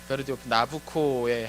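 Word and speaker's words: Nabucco: 오늘 특별 나부코의 한 장면을 셨는데 그 나부코가 바로 느브간 네살의 그 이탈리아 발음입니다.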